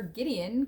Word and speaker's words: Gideon: finish our story about gideon well god had chosen gideon to deliver israel and he was to lead the soldiers to fight those midianites remember gideon kind of rhymes with midian and they had been